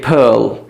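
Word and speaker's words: pearl: आप देखिए पर्ल, पर्ल में आप देखिए आर है, लेकिन आपने इस आर को प्रोनाउंस नहीं करना है हमेशा, ठीक है, जो ब्रिटिश इंग्लिश है.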